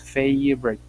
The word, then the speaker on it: favorite: La V y la R se unen, la O la eliminamos y decimos favorite.